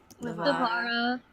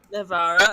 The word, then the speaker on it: Livara: Sterling is suspicious of Marcel, and also oh shoot, how do you pronounce her name? Livy, Livara. Livara as well, because she seems touchy feely.